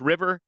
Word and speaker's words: RVR: It's pronounced river, and it's an izakaya, so Japanese I style.